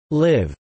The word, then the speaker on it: libh: beta, such as sibh, libh, and doib, something not found in the rest of Connacht. These words would be pronounced respectively as shiv, live, and dofa.